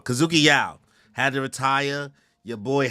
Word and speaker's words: Kazuki Yao: Kazuki Yao. There we go. I almost said it wrong. Kazuki Yao had to retire.